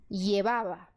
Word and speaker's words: llevaba: Ou seja, essa palavra vai ficar pronunciada llevaba. Llevaba. E o V também tem som de B.